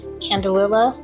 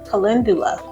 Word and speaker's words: Calendula: And for some added richness, I decided to add some Candelilla flowers. How do you say that? Candelilla. Calendula? Calendula.